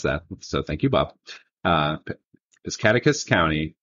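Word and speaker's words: Piscataquis: And he told me how to pronounce that. So thank you, Bob. Piscataqua County. Piscataqua.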